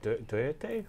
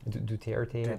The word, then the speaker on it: Duterte: Duterte? How do you say his name? Duterte.